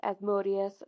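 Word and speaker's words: Asmodeus: asmode or you might know him better by asmodus some people pronounce it as modus but ghost pronounces it as as modius so I'm going with that because everything Papa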